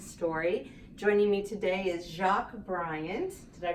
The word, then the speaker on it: Jacque Bryant: Joining me today is Jacque Bryant. Did I pronounce it right?